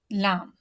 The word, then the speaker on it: ل: Lam. Al. Al. While pronouncing lam, our tip of the tongue spread toward the gums of the front teeth.